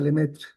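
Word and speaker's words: Lemaître: Eso lo descubrió un sacerdote que vivía en Bélgica que se llama Lemaitre, se escribe, pero se pronuncia Lemetre.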